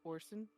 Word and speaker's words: Orison: his actual name is Orson hold on notes o r i s o n that's horison okay Thors got it is silent silent the singer Roy Orson that's or son you are able to